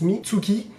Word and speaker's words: Mitsuki: chinois donc c'est le serpent et qui se prononce mizuki qui veut dire cook et du coup en